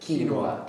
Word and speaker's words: quinoa: How do you pronounce that? Quinoa.